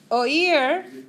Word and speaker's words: oír: Oír is how this is pronounced. Oír rhymes with hear. And it also rhymes with ear, right?